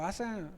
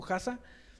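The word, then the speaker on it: חסה: La palabra que utiliza aquí para decir confiar es la palabra jasa o asa, si lo pronunciáramos sería algo como jasa, y esta palabra a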